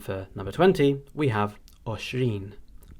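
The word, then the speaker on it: għoxrin: And for number 20, we have oshrin, oshrin.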